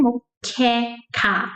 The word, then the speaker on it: moqueca: So Karen, the K sound from Karen, moqueca, and then ka, de ka.